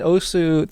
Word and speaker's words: osu: So in Osu, there's... By the way, yes, I'm aware that Osu is technically supposed to be pronounced Os.